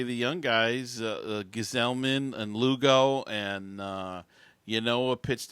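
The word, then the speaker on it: Gsellman: Now, Gieselman, there had been some talk about, Gesellman, excuse me. They changed the pronunciation between the minors and the majors, I guess.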